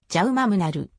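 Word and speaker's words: Jaume Munar: アカデミーで学んだカタルーニャ語での発音はじゃうマムなる 2014 年全仏を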